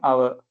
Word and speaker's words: hour: Again vowel மாதிரி pronounce பண்றோம். அதுதான் முக்கியமான விஷயம். அதால தான் நாங்க ஒன்றுன்னு சொல்ற நேரம் n hour.